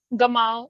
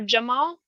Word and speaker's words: Gamal: thing the G the the hard G sound is more of a Cairo pronunciation and the J sound